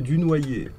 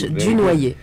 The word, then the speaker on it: Dunoyer: Oh, Dunoyer. Nobody can pronounce it. That's all right. You say it 3 times. Dunoyer. Say again. In French, we say Dunoyer. Okay. In French, Dunoyer. Okay, there we go.